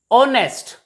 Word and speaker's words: honest: Here the word R, in this word R, H is silent, so it is pronounced as R, not har. Honest, not honest.